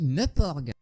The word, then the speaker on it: MMORPG: It's the story of young loner Wade Watts who spends his days connected to the Oasis - a MMORPG – it's prononced 'meuporg'.